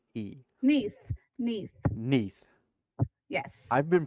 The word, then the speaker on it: Nithe: His name is spelled Nithe. Neath. Neath. Neath. Yes. I've been pronouncing it Nithe, and then she told me the other day That's it's Neath, and I'm like, well, crap.